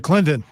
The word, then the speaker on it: Clinton: would he say it he said Clinton so so he pronounced T exactly partials I mean do they